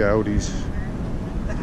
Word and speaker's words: Audi: Oh, we got to check out the Audis.